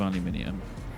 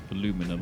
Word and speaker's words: aluminum: So, this is making a lot of aluminium. That's fine. Aluminum.